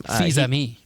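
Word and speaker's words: Fils-Aimé: Fils-Aime.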